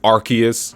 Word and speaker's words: Arceus: it's not a big deal yes it is pronounced Arceus Arc as an arc of the Covenant Noah's